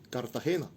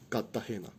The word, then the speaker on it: Cartagena: Aquí en Cartagena no se dice Cartagena. ¿Se dice cómo? Cartagena. Es muy sencillo.